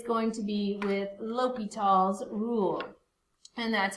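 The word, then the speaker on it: L'Hôpital's: limits and that it's going to be with l'hopital's rule and that's how you say it so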